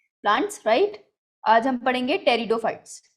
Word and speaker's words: Pteridophytes: तो आज हम पढ़ेंगे टेरिडोफाइट्स, ठीक है? तो पी है हमारा साइलेंट, राइट?